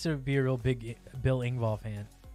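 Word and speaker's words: Engvall: be a real big bill ingball fan yeah that's how you pronounce his name billing ball um more so than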